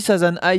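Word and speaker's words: 3×3 Eyes: moi j'ai toujours dit Sasan i parce que c'est comme ça qu'on dit en japonais je t'av j'ai TR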